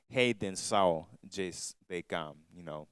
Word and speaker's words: A Redenção de Cam: redemption of Ham, and it's actually pronounced Redenção de Cam.